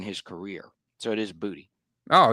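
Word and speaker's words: Boutte: It is pronounced Butte, right? Not Booty. is Booty.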